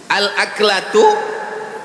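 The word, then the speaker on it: الأكلة: Al-aklatu bifathil hamzah. Cara membacanya hamzahnya baris atas.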